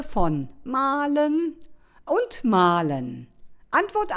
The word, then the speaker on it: mahlen: Malen und malen. Ein unhörbares H verbirgt sich in dem zweiten Malen.